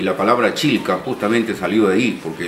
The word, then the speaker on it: Chilca: tomó su nombre y los españoles no podían pronunciar chilca con doble L y le quedaron quitaron a él y se quedó así como chica pero acá en chilca